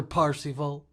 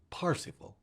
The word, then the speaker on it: Parsifal: King Arthur, Sir Parsifal, they're variant ways to say it, spell it. Most people say it Percival. I prefer the German pronunciation, Sir Parsifal.